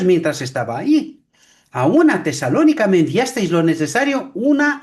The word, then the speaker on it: Tesalónica: Tesalónica. Tesalónica, Ah, Tesalónica, porque el acento ah, es sobre O.